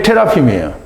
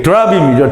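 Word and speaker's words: תרפים: 그게 테라핌이에요. 이게 드라빔이죠, 드라빔. 네, 그리고 이제 히브리 발음을 받은 대로 하면 테라핌이 되는데요.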